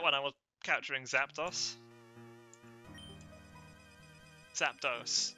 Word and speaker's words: Zapdos: Zapdos, it's Spanish, so it's pronounced dos.